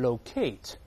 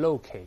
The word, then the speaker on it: locate: locate 英国人会读成 locate，美音中重音在前面读成 locate。